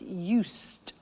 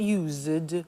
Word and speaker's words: used: listen to the pronunciation I said us with a t sound us not used or used us that's very important to distinguish it from the other verb use okay us the